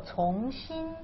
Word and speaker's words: 从: And the lower part is pronounced as 心. 心. Heart. It means 心. Mm-hmm. So 从心.